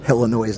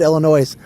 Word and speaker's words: Illinois: um the uh Skyliner Illinois National Guard oh my goodness he said Illinois I'm from Illinois you don't pronounce the S I know the song